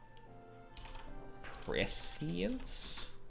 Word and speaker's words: prescience: Prescience? Prescience. Oh, prescience. Okay. It's like conscience, yeah.